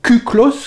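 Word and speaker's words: κύκλος: Alors il faut savoir que Sphairon, ou Kuklos, qui s'écrit Cyclos, je le prononce à la grecque ancienne, c'était pour les Grecs la forme parfaite.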